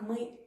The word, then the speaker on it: мы: Давайте же обратим внимание, как мы это произносим. Мы. Мы. То есть губы у меня растягиваются в улыбке.